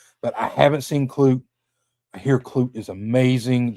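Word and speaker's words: Klute: Clute. I said it right. Cloot.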